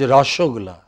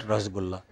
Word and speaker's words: rasgulla: You know, it is rasogulla. You know, it's not rasgulla.